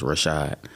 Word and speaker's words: Rashad: me to just pronounce my name which is simple two syllables Rashad um so a lot